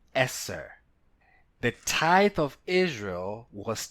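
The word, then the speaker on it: עשר: The Hebrew number 10 is pronounced Eser.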